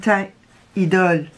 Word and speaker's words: Teint Idole: Like, for example, the Lancôme teint idole. You don't pronounce the T at the end, for example.